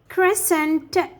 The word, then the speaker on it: crescent: as scissors scissors muscle crescent and indiment so the c here is silent so when the e is followed by c we make the c silent and dress to pronounce